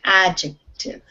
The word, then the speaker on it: adjective: adjective adjective okay so the stress is on the beginning of this word adjective adjective good okay um noemi